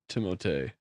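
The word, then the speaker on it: Timothée: Apparently, because he spells it with two e, you're supposed to pronounce it timote.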